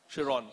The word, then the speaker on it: Chiron: I still don't know how to pronounce his name. Chiron. Chiron, okay. Is that right? Chiron.